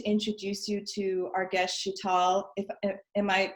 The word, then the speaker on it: Sheetal: so excited to introduce you to our guest Sheetal am i pronouncing that right yes it's Sheetal she gets she knows American accent well before